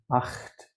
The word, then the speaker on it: acht: Acht, 8. In English, unfortunately, the GH is silent.